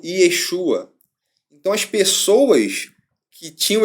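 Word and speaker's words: יֵשׁוּעַ: Após o cativeiro babilônico, esse nome, Yehoshua, passou a ser pronunciado como Yeshua.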